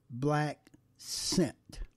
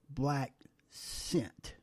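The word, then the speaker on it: blaccent: and sisters the word is the word is black scent and you spell it b l a c c e n t and it's pronounced black scent this is the thing that these unscrupulous white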